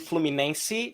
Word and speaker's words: Fluminense: Is that how you say it, or How do you pronounce it? Fluminense.